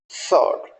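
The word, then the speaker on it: sword: Wrinkled सॉर्ड, यानी डब्ल्यू यहाँ silent है, तो जब डब्ल्यू साइलेंट होगा तो इसका प्रोनाउंसिएशन वुड बी सॉर्ड।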